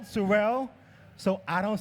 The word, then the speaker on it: Sorel: And by the way, by the way, Surell, not sorrow, because I have a speech impediment.